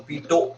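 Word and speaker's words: Pitot: T silent है आखिरी का, तो पीटो ट्यूब।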